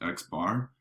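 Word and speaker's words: x̄: use in statistics is x with a bar over it and it's pronounced x bar so the mean of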